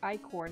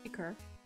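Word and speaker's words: ichor: consider insisted on me calling it icor not icker which i think is how you usually pronounce that but what the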